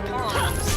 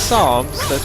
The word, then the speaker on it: Psalms: You don't pronounce the P, is what I'm trying to get at.